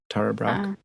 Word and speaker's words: Tara Brach: And over the years, you know Tara Brach, Tara Brach. I don't know how do you pronounce her name? Tara Brach.